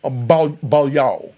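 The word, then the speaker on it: Beaulieu: Priscilla you know uh B Balo is her how her name is pronounced right AKA she became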